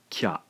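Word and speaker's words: きゃ: together, blend them together, the ya sound sort of kicks out the vowel sound from the previous syllable. Therefore, the E sound in ki has been taken over by the ya. Pronouncing this then, we have a single syllable now, not two syllables. This is kya, kya.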